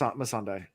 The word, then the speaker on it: Missandei: Is it Missandei or is it Melisandre or I can't remember how it's pronounced. Missandei. Missandei. Okay. There's no L, I don't think.